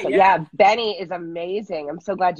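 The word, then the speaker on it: BENEE: Oh, you know, I really like Benny.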